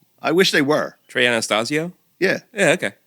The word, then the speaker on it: Anastasio: Trey Anastasio. Yeah. Yeah. Okay. What' I say? Anastasia. I always said that. Okay, you're wrong. He's one of my favorite guitar players and I say his name wrong.